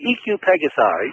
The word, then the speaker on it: EQ Pegasi: By the way, EQ Pegasi, that's the correct way to pronounce it.